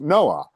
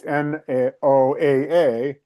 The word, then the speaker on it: NOAA: Agency that's in charge of monitoring so-called climate changes, literally, it's an acronym that is pronounced NOAA. It's NOAA, the National Oceanic and Atmospheric Administration, and yet